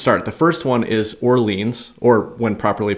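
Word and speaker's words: Orléans: The first one is Orleans, or when properly pronounced, Orleans.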